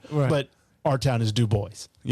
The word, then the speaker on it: Dubois: And it would normally be pronounced Dubois.